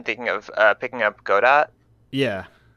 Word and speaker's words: Godot: of uh picking up Godot yeah or I think it's pronounced gdo I have no idea yes gdo like like the fellow you wait for I believe yeah that